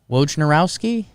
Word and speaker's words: Wojnarowski: dear friend adrian wojnarowski i say it right wojnarowski yeah okay cool uh russell westbrook for john